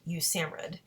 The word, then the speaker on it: USAMRIID: Army Medical Research Institute of Infectious Diseases, abbreviated USAMRIID, and pronounced USAMRIID, which ran maximum containment laboratories.